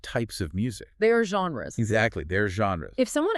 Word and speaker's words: genre: It is not a hard J, like in the word jump.